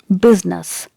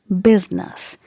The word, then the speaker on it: business: is pronounced as and the stress is given on the first syllable that means when you